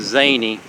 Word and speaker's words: Xenia: On up this road was another town called, looks like it's spelled like Xenia, but it's pronounced Zany.